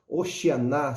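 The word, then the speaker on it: הושענא: os irmãos possam compreender a pronúncia é oxigenar hoshiana significa salva-nos por favor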